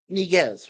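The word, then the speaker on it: Yniguez: played by Richard uh NZ or nigz yeah nigz right the why is silent and then uh Dana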